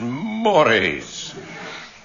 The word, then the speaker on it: mores: They have different customs and social mores, which some people pronounce as mores.